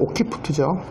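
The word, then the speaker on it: occiput: 옥시푸트. 원래 라틴어 발음은 오키푸트죠.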